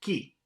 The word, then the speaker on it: qui: the Spanish syllable q-u-i is pronounced Ki Ki KI and not as in English you will now hear